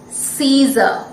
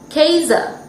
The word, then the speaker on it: Caesar: one is the name of the greatest roman caesar if it followed the rule it should be pronounced this name should be pronounced as casa shouldn't it my dear friends but we say